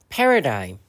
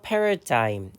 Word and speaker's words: paradigm: paradigm, paradigm. 우리말로도 패러다임 종종 쓰죠. 조금 확대해서 보면 자, 이 스펠링에서 발음이 되지 않는 철자가 있어요. 바로 여기 G 사운드, 묵음 처리되고요. 그래서 paradigm 이렇게 읽어주면 됩니다.